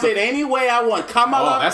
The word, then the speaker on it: Kamala: inspire you to pronounce her name right, Nigga, considering I'll that pronounce she's it any way I want. Kamala. Oh, that sounds MAGA, man. No, that sounds real MAGA, bro. Sounds extremely Camilla, MAGA.